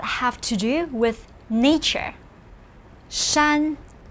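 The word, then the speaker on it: 山: few characters that have to do with nature shan pronounce with me shan this means mountain as we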